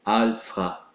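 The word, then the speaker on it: ἄλφα: de Alfa ok que na verdade a pronúncia é Alfa Ok em que o a letra Fi ele tem aquela pronúncia expirada fa Ok como se fosse em francês francês mais ou menos isso então nós temos a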